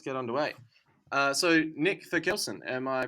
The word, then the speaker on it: Therkelsen: let's uh let's get underway uh so nick for kelson am i pronouncing that correctly your last name yeah you